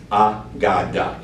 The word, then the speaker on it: AGADA: name that we decided on is called the ah godda you'll see on top how you pronounce that that is going to be the